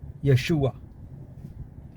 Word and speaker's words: Yeshua: एक और चीज़ बताएंगे, Jesus' name is not Jesus, again mispronounced completely. His original name is what? Yeshua.